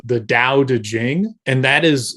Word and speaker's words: Tao: so doubt it which it's pronounced Dao but sometimes spelled the T and it's short it's